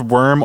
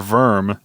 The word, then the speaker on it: wyrm: But a wyrm, pronounced worm or verm, is a type of dragon that commonly appears in British and Norse mythology.